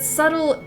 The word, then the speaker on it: subtle: Please pronounce subtle. But subtle is because the B is silent.